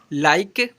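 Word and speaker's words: like: उच्चारण नहीं करते हैं क्योंकि लास्ट में लास्ट में इ या हमेशा क्या है साइलेंट होता है मतलब लास्ट में जो है ना इ हमेशा साइलेंट हो जाता है जैसे में एल आई के ई लाइक इट अन साइलेंट हो जा रहा है एम ए के ई एम ए के ई मेक के इ का उच्चारण कहीं दिख रहा है?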